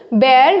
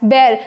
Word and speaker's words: bear: बेयर मैंने बताया था, BEAR is pronounced as बेयर, न कि बियर।